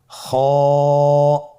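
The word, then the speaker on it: خاء: খ হরফটির মাখরাজ হলো কণ্ঠনালীর শেষ ভাগ হতে উচ্চারণ করতে হয়, কণ্ঠনালীর শেষ ভাগ। আপনারা আমার সাথে বলুন খ।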